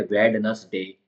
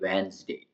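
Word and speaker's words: Wednesday: next है डी silent पढ़ने में आ रहा है वेड नस डे लेकिन है यह वेनसडे इसका फोनेटिक प्रोनंसिएशन दे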